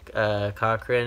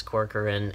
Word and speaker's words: Corcoran: I think it was, Lloyd would always say Cochran. I've heard him say in interviews, but I think the correct pronunciation is Corcoran, and that's how it's spelled.